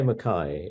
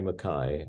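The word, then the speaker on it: Mackay: In Scotland, they say Makay. I mean, I'm only of Scottish ancestry. I'm not Scottish really, but feel close to Scotland. But in Ireland, they say Makay, and they spell it slightly differently. In Canada, they say Makay, I think, and in the States, they tend to say Makay. Yeah.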